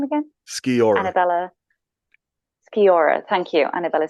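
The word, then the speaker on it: Sciorra: Skiora.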